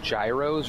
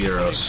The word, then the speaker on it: gyros: So do you think these were called spider ant gyros or spider ant euros? They're definitely euros. Gyros, because they spin? Oh, I thought euros, because that's how you pronounce the sandwich.